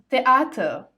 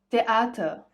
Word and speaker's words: Theater: Auf Deutsch, in German, TH is pronounced as T. There is no the in the German language. For example, you say das Theater, die Theater, das Theater, die Theater.